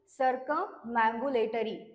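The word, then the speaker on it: circumambulatory: next word आहे सरकमबरीबुलेटरी okay so काय आहे प्रोन्सशन सर्कमबुलेटरी अस याच प्रोन्सिएशन आहे आणि याची करेक्ट स्पेलिंग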